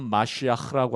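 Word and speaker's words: מָשִׁיחַ: 히브리어로는 메시아라는 말이에요. 정확한 발음 마시아흐라고 하는데 그리스도 메시아 같은 말입니다.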